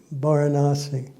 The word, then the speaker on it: Varanasi: the Buddha at Sarat by varasi Varanasi pronounce it right and at sarut and